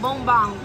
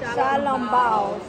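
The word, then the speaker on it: xiaolongbao: How do you properly pronounce this right here? Oh, that's shalom bounce, right? Shalom bounce. Shalom bao.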